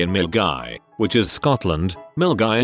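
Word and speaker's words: Milngavie: Milgy is pronounced Milgy.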